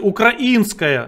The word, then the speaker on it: украинская: украинская пять украинска украинская Учите я украинская верно ставить ударение Украин Литовская Латвийская Эстонская